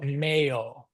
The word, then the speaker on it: meo: ego volo Birotam Robotico meo, right, for my robot. Or if I'm speaking to you, I would say robotico tuo, right? So it's male with a long O at the end.